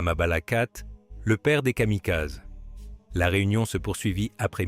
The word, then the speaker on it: Kamikaze: Les Américains les appelleraient Kamikaz, la prononciation courante des mêmes caractères kanji.